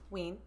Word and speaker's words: Ween: It's W-E-E-N, not like the band thing. I mean, it is like the band. It's spelled the same, but yeah.